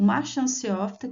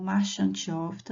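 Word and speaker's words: marchantiófita: O filo briófita, que inclui os musgos, o marchanciófita que inclui as hepáticas ou também pode ser pronunciado como marchantiófitta, não tem problema.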